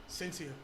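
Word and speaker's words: Shenseea: Sensia. Sensia. Oh, so forget about the H. Yeah. Sensia. Not Shen, it's Sensia. Sensia. I'll let that slide. All right. But yeah, I love that song. Sensia also surprised me.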